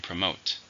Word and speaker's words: promote: this is a verb how many syllables are in promote to stress in the second promote they are aggressively